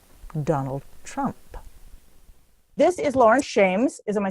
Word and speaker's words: Laurence Shames: This is Laurence Shames.